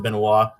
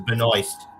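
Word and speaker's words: Benoist: He calls her Melissa Benois. I know. I must have picked it up from Mikey. What's her actual name? Melissa Benoy. Benoy. Like Moist. Rhymes with moist.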